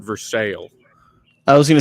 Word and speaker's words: Versailles: say you're going to Versailles for the weekend except we pronounce it for sale I was gonna say